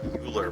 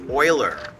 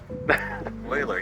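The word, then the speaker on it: Euler: So, is Eu L E pronounced as Oiler or Uler? Oh my gosh, I have never heard Uler before in my life. That is Oiler. Oiler.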